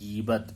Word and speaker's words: غیبت: بچوں غور سے سنو، گین کے نیچے زیر ہے، یہ غیبت لفظ ہے، غیبت لفظ نہیں ہے، غیبت نہیں ہے، غیبت ہے لفظ۔ تو صحیح تلفظ ہے غیبت۔ غیبت کے معنی ہے